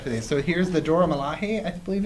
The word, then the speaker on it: Dora Milaje: So here's the Dora Milaje, I believe it's pronounced.